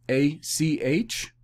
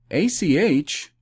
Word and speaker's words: ach: put those initials together a c h ach is the phonetic transliteration of the masoretic hebrew pronunciation of brother ah ach brother brother i would avoid